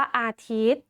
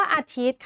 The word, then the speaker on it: อาทิตย์: ค่ะ หมาย ถึง ตัว ย ยักษ์ ซึ่ง ไม่ ออก เสียง เพราะ ว่า มี ทันตฆาต กำกับ ไว้ ค่ะ เช่น เดียว กัน